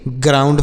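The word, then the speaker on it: ground: गया ग्राउंड हो गया जी आर ओ यू एन डी ग्राउंड हो गया या जी से ग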